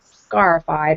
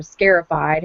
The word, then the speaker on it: scarified: they bought were not scarified or scare ified however you want to pronounce it which means that the